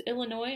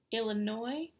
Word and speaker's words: Illinois: "Yes, my name is Illinois, and I'll need an airline ticket to, Illinois?" "Mm-hmm. No, the S is silent."